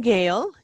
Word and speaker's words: Gail: all right um well pronounce my name gail g-a-i-l like sale but with a g and um gail